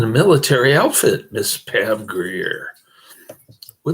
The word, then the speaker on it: Grier: spell Pam Greer just like it's uh pronounced gr i e r all right Pam Greer is in the description